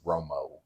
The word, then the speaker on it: Romo: put a a there but it is Romo oh like Tony Ro Romo okay I was like